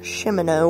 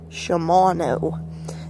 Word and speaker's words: Shimano: It's not Shimano or anything like that. They actually are the ones that make the gears on my bike. Shimano is the name of it.